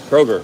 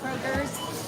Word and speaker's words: Kroger: name of the store kroger kroger okay i was saying it wrong a lot of people including myself say kroger's but there's technically not an s okay just kroger yeah okay i was